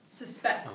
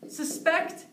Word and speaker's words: suspect: is suspect sus suspect suspect this is ver yeah quick quick note here suspect as a verb and suspect as a noun suspect suspect so be a little bit